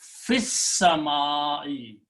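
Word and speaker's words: في السماء: Then you read together, you do not pronounce the alif, so it will be fis-sama'i.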